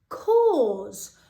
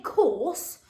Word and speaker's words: cause: one on your own cause so in this word that e is silent so k or s k or now we don't say course that s changes to